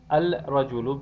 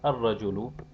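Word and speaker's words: الرجل: Al-najmu becomes an-najmu, al-rajulu becomes ar-rajulu, al-diku becomes ad-diku, al-samaku becomes as-samaku.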